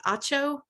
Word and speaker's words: Atcho: Claude, I'm just realizing I don't know if I've pronounced your name correctly. Atcho?